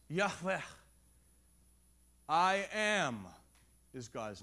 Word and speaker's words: Yahweh: No vowels in Hebrew. Consonants. Yahweh.